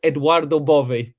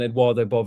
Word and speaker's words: Edoardo Bove: I think it's Edoardo Bove. I'm not Italian, but that's how I've been told it's pronounced.